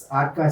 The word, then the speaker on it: Arka: center called aka center how do you pronounce it arka center for hormonal health